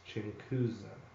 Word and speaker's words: Chinkusa: you are wondering about how to pronounce my name it's chuza I'll hit the staff